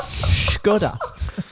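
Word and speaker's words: Škoda: sounds about right I think you'll find it's pronounced skoda I know it's 11 p.m on a Sunday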